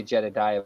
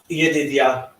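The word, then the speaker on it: ידידיה: I always say Jedediah, but I know that's not right. Yedidia.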